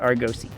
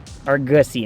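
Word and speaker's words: Argosy: The ship in Monster Hunter World is the Argosi. Uhuh. Can't stop pronouncing it Argusi in my head.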